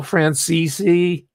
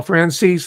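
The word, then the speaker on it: Franzese: there's actors, celebs, galore, Michael Francisi or he calls it Francis. Sorry, I accidentally give it the more appropriate Italian pronunciation. He said, you know, I'll pronounce it the way he wants it.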